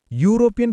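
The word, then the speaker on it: European: D some answer എഎക്സ്പ്ലനേഷൻ യൂറോപ്യൻ തുടങ്ങുന്നത് യു എന്ന കോൺസനന്റ് സൗണ്ടിലാണ് അതിനാൽ എ ഉപയോഗിക്കണം ടോപ്പിക് രണ്ട്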